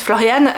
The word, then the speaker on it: Florian: en Allemagne parce que Floriane en fait c'est Florian ça s'écrit sans le E et enfin voilà Florian se prononce Floriane donc c'est assez rigolo